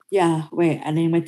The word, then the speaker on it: Yahweh: membacanya iyot Hei Vape ada yang membacanya Iyah Wah ada yang bacanya Iyah weh Yahweh Yehuwa atau bacanya yehuwah ku bahayanya mengikuti macem